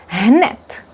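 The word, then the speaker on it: hned: H mut ham het hanet immediately hanet hanet. This by the way the d is pronounced as t here.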